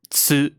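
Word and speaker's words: ツ: shi, tsu, so, and n.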